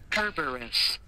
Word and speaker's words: Kerberos: Kerberos. Okay. It can be pronounced Kerberos. The original word used is Kerberos, meaning spotted. Roman is Cerberus. Greek is Kerberos.